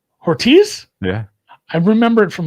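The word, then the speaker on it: Hortiz: Ortiz. The emphasis is on the first syllable.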